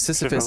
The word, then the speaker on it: Sisyphus: He also, the tale of Sisyphus, but he mispronounced it Sisyphus. What's it? So there's Sisyphus. Syphilis? Yeah, he mispronounced it syphilis.